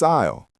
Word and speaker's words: aisle: It's spelled a i s l e, but the s is silent.